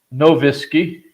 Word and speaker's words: Nowicki: this channel with uh Andy nowicki or the original pronunciation no whiskey uh uh and uh